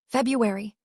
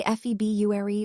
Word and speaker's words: February: February. Do you say febuary or february? That sneaky r in the middle trips everyone up.